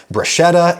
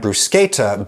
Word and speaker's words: bruschetta: Bruschetta and bruschetta both only use sounds that are available in mainstream American English, but the latter is closer to the original Italian, therefore you could argue that's the right one for me, bruschetta.